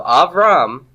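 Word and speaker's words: אברם: So Avram is my second noun in the absolute. Where's the tone syllable? Av or Ram? It's Ram. Av is pretonic.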